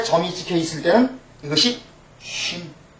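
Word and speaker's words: שין: 이것이 쉰 쉰 그래서 쉰요 발음하실 때 뭐 이렇게서 음식이 쉬잖아요. 뭐 보리밥이 쉬다 그럴 때 그때 그냥 그 소리 내시면 되 됩니다. 그냥 쉬. 근데 문제는 UN 하고 끝나는게 아니고 UN 쉰 이러셔야 돼요.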